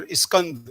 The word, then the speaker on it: Iskand: It's correct pronunciation for Professor Iskand.